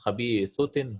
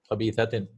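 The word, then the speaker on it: خبيثة: See, this is a mistake. It should be fatha. That's khabithutin. How is this? Right? It's khabithatin.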